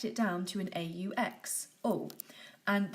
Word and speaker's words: aux: down to an aux oh and this one's actually pronounced just like the blue so the blue and the green are both pronounced Oh finally with the orange